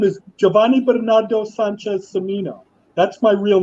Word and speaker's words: Cimino: I'm sorry, John MEGO-STRETCH-HULK CIMINO with CIMINO now, of course. But that's a but it's actually the C is actually pronounced with the S. It's actually not CIMINO.